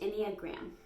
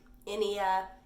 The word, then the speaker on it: Enneagram: So it is pronounced Enneagram. Enneagram.